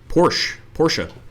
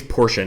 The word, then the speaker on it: Porsche: Porsche. I think it's Porsche, not Porsche. Porsche is just how us Americans say it.